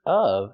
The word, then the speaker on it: of: The word of is pronounced with a short uh sound like cup and up.